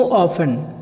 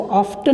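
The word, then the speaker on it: often: सो it doesn't break down so ऑफन, यहाँ पे सो ऑफन, इसको ऑफ्टन नहीं पढ़ेंगे, इसमें ऑफन पढ़ेंगे, टी साइलेंट रहता है।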